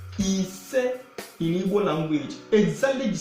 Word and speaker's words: ise: So 5 is called and pronounced like this. Ise.